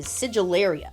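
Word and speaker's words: Sigillaria: संबंधित है, वह है सिगिलेरिया। सुनने में तो ऐसा नहीं लगता लेकिन जाहिर तौर पर आप इसका उच्चारण इसी तरह करते हैं।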